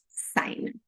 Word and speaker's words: sign: O sign você vai pronunciar assim. Seat belt sign.